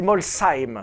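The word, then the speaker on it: Molsheim: Oui, ça se dit Molshim pas Molshim. Ni même Molshim, c'est Molshim. Je sais que je le prononce bien.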